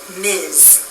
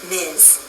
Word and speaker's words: Ms: we pronounce this as Miz Ms sounds like a z at the end Miz a woman can choose